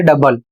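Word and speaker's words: double: अर्थात ओ और यू साथ में है लेकिन उच्चारण आपको यू का करना है।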